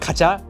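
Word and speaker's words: カチャ: Kacha, it's pronounced kacha, and you'll know that because they just spelled out how it sounded. K-A-C-H-A-K, right? Kacha.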